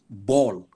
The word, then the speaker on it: ball: When I say a word like ball, it's spelled B-A-L-L, but you don't hear any of those other sounds. It's an O sound.